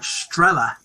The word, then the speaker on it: Strelly: rebus on the word strelly. So the two sound quite similar. Of course, yeah. Dialect. So stella sounds very much like strella, which is how the locals pronounce that place.